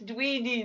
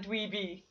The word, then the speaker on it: Dweedy: No, it's Dweedy, not Dweeby. Yeah, Dweedy rhymes with sweetie.